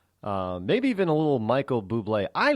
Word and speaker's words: Bublé: Yeah, Michael, some people might say it's bubbly. No, that's the way I pronounced it when I first heard him years ago. But his name is Michael Bublé, and he's a Canadian.